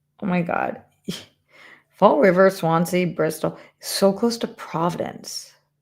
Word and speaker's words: Swansea: I have ice cream barn in Swansia. Where the is Swansia? Huh? Never heard of it. Just don't know it. Um, all right. Swansea.